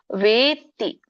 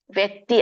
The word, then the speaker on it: ವೇತ್ತಿ: ವೇತ್ತಿ, ವ್ಯಕ್ತಿ ಅಲ್ಲ, ವೇತ್ತಿ ಲೋಕ ಮಹೇಶ್ವರಂ ಅಸಮೂಢ ಸ ಮರ್ತೇಷು, ದೀರ್ಘ ಇದೆ, ಮರ್ತೇಷು ಸರ್ವ ಪಾಪೈ ಪ್ರಮುಚ್ಯತೆ.